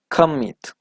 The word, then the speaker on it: commit: For example, when the last syllable is stressed, we have commit, right? If you separate the word in two syllables, we have come, meet. So the syllable that is stressed is the second, right?